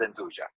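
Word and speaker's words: 'nduja: the calabrese so yuja is actually the right pronunciation of this is anduja and we're going to make it stuffed with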